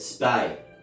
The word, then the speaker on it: Spee: "John Spee," he said. He pronounced it Spy.